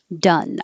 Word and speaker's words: dun: the same core chorus done done i learned a new word this d-u-n is a color it's a brownish-grayish-yellowish color and it's the same uh sound done the